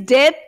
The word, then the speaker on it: debt: His debt. T is silent. His debt to Shylock is overdue.